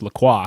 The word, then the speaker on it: LaCroix: So that's why like when LaCroix first came up and up here, obviously it's pronounced LaCroix.